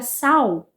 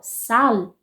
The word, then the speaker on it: sal: com português de Portugal, vão pronunciar a palavra sal com L no final, sal, enquanto nós, ou a maioria dos brasileiros, a maior parte dos brasileiros, vai pronunciar sal, vocalizando esse L, transformando-o em U, sal.